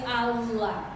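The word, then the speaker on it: Alla: mi hermana Ala, y se escribe doble L y se pronuncia Ala, y a su hijo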